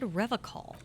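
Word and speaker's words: Revachol: You said Revocol. I like to pronounce it the hard way. The old way. The Vespertine way.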